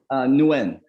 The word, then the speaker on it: Nguyen: How do you pronounce it officially? Nguyen.